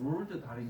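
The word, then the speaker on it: Roald Dahl: 그래서 여기 위에 있는 롤 달이라고 할 때 이 롤 달 이게 약간 이 식으로 읽으면 드가 좀 약하게 발음돼서 그런 건데 이 롤드 정확하게는 롤드 달인 건데 이 롤드가 롤드 아문젠의 이름을 딴 거죠.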